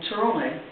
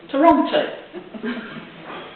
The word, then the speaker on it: Toronto: And for a while, my nephew lived in this strange place in Canada called Toronto.